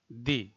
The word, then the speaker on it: the: সুতরাং এর উচ্চারণ হবে টিএইচই এর উচ্চারণ হবে দি, দি অনেস্ট ম্যান।